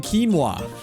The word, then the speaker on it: quinoa: It could have been quinoa and rice or quinoa and chicken.